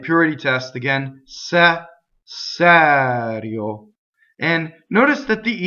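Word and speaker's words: serio: So all the E's and O's that fall on a non-stressed syllable will be closed. Going on. Un, phonetic vowel. Sɛrio, right?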